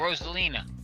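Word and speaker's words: Rosalina: How do you say that? Rosalign uh from Mario. Which one is that? Oh, Roselina. Yeah, Roselina. Okay, Roselina.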